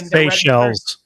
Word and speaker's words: Seychelles: just that are registered, like in is it Seychelles? I always mispronounce that. Those islands that you always see a random company with no direct management listed and Seychelles.